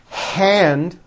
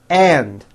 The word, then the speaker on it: hand: For example, instead of saying the word hand, they would say and, like my right and.